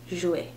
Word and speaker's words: Jouer: I only know how to pronounce this because of Desi Perkins. Jouer.